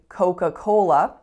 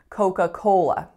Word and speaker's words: Coca-Cola: coca-cola but in fact listen real carefully coca-cola first tell me what is my strongest syllable it's the third right coca-cola coca-cola and then let's actually listen to the vowels that we're making so the first vowel is Oh the second vowel is a schwa coca coca and then in the second part of the word we have coal so it's an O